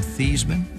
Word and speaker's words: Theismann: We're going to change your name from Theismann to Theismann to rhyme with Heisman.